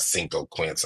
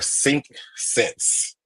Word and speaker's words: Cinq Sens: making something up and it's not Cinco Quince. I'm pretty sure I didn't say it right. It's their Cinq Sense.